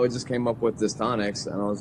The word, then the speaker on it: Distonix: So can you clear up for us right off the bat the pronunciation? Is it Distonix? Yes. I've had a lot of people say like Distonix. It is Distonix.